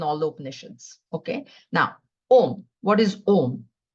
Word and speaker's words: Om: Now, Om. What is Om? Om is made out of 3 syllables. These are the simple explanations. A, O, and Ma.